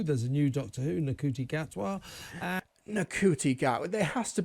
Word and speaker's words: Ncuti Gatwa: And you can't even be bothered to, pretend to pronounce his name correctly. Ncuti Gatwa.